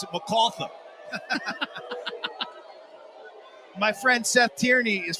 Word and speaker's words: MacArthur: Well, they don't pronounce it MacArthur. They pronounce it MacArthur.